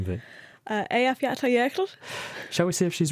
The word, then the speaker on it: Eyjafjallajökull: So actually this is the name of the volcano pronounced correctly. So here it goes. It's Eyjafjallajökull. That's Eyjafjallajökull.